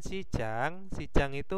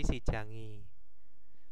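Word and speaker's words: 시장이: Nah, sedangkan sijang itu huruf terakhirnya adalah konsonan, maka dia ditempelkan i, jadi sijangi. Bukan sijang i, tetapi sijangi ya bacanya.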